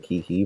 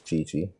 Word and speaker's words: Qiqi: it's gonna be on chichi which it looks like kiki but it's chichi because you know that's just how weird it gets between chinese and the english pronunciation but yeah all right